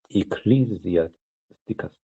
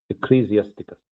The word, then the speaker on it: Ecclesiasticus: It's pronounced Ecclesiasticus. Ecclesiasticus.